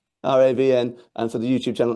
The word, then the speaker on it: Ravn: It's It's actually as in brown without the B. Uh, but everybody just says Raven, so I took it myself, too. But it's Ravn. Ravn.